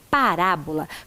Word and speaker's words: parábola: qual chamamos sílaba tônica vamos repetir a palavra parábola para que você perceba Qual é a parte da palavra mais forte fala com amigo lá parábola por isso esta sílaba né a letra A especificamente vem com o acento agudo Vamos agora para mais